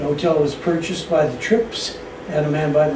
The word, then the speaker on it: Trippe: It's spelled Trippa, but they always say trip apparently.